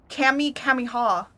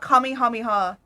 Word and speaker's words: Kamehameha: it as as uh Kami kamiha or they pronounce it weirdly they could pronounce it as cam Pam Alma cam hamoma that's how they pronounce it not Kamehameha they don't pronounce it right no one in fortnite